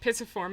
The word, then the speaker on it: pisiform: Oh, and my second favorite bone is the pisiform, because I pronounce it pisiform and it has the word piss in it.